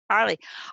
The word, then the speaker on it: Arlie: Judy, I see we have a question directed to you, and I hope I'm pronouncing your name right, from Arle. Is it Arle or Arlie? Arlie? Arlie.